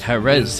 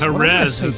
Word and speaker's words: Jerez: Jerez is the one, yes. Jerez, yes.